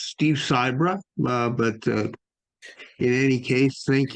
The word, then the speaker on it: Sibra: Steve Sibra. That's close. It's Steve Sibra, but in any case, thank you very much, Peggy, and I'm glad to be here.